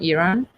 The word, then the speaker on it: Iran: time i didn't see that's the proper way to say it iran iran yes everyone is saying it wrong by saying iran please please like people